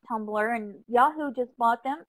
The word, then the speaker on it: Tumblr: And it doesn't look like it's a word, but it's pronounced Tumblr.